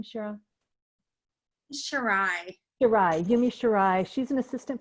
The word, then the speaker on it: Shirai: Shirai.